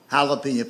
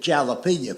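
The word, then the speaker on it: jalapeño: I love hot peppers, but he calls it jalapeno peppers. He'll say to a waitress, "Do y'all have jalapeno?" You mean jalapeno? No, damn it. Jalapeno. That's right. He he he will he will point to that jar of pepper. He says, "See right there, that's a J. That's jalapen."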